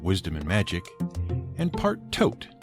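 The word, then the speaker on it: Thoth: People claimed that he was actually part Hermes, Greek deity of wisdom and magic, and part Tote, spelt T-H-O-T-H, but pronounced just like you would tote bag, the Egyptian deity of wisdom and magic.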